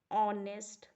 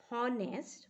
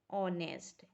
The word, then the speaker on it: honest: is a vowel an honest man here why n is because in this word while we are pronouncing it h remains silent and this word is